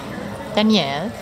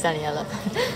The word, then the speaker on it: Daniela: Luke, René, Danielle. No, it's Daniela.